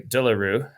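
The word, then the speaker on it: De Le Rue: hard to eclipse the legend status that zavier dearo has sorry daro I keep saying his name wrong zavier dearo um he corrected you that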